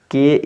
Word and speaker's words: key: इसी तरह से देखिए क्या है, के ई वाई है। देखिए हमने बताया था ई वाई लास्ट में मिलेगा तो बड़ी ई की बड़ी ई से उच्चारण करेंगे।